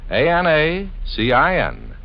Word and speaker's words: Anacin: It's spelled A-N-A-C-I-N.